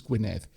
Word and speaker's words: Gwynedd: For example, I will point out, I'm going to pronounce it Gwynedd because that is the actual name, and it is not a single D, it is a double D, which is a single Welsh letter.